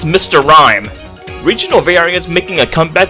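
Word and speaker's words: Rime: things is also fun of course rhyme rhymes with mime but this rhyme in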